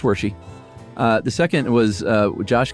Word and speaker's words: Wershe: Uh it's pronounced Wershe as in Hershey. I don't remember what we said. I don't either. Okay. It's Wershe.